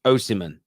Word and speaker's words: Osimhen: It's pronounced Osimhen.